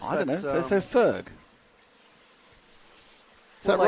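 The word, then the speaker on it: Förg: Forg is pronounced like birth. Ferg. No. And is that There's no O in birth. No. Is that Anastasia? Anastasia. So Ferg. Ferg. Well, it's an O umlaut, but I guess I don't know.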